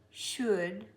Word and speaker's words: should: The L is silent. The D sound is going to It's very important. Good, wood. This is often said wood. It's wood. Wood, stood, should, could, would, which is